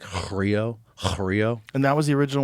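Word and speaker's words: χρίω: It's like, it's spelled Xrio, but it's pronounced like Chrio.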